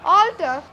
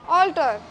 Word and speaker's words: altar: This is an altar. A-L-T-A-R, altar, not A-L-T-T-E-R. Both are pronounced same, but the spellings are different.